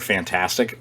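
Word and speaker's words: Fntastic: kotaku is reporting that i'm gonna just pronounce it uh as the word fantastic but it's spelled f and tastic uh which are the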